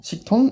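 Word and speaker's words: 식당: Siktang, en fait, le premier mot termine par un kyuk. Ce qui fait qu'en fait, après, le ticket, eh bien, on va le doubler. On va pas dire siktang. Siktang, on va pas le dire comme ça, mais on va bien dire siktang. Siktang. Avec un double ticket.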